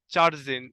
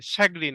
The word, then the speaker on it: chagrin: মাস two Euripides চার্জিন, এই চার্জ ঠিক না, এখানে চার্জ না, চ্যাগ্রিন, শ্যাগ্রিন আর কি, দেখি তো এটার সঠিক উচ্চারণ কি, শ্যাগ্রিন, মন খারাপ, হ্যাঁ শ্যাগ্রিন।